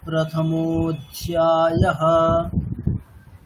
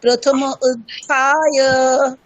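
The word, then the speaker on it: प्रथमोऽध्यायः: সন্ধি হয়েছে বলে ওরকম, কিন্তু ওখানে অকারের কোনো উচ্চারণ করা হবে না। মোধ্যায়ঃ এরকম। তাহলে কেমন হবে ওটা? এরকম, অথ প্রথমোধ্যায়ঃ, অথ প্রথমোধ্যায়ঃ। আচ্ছা, একজন বলুন। অথ প্রথম অধ্যায়।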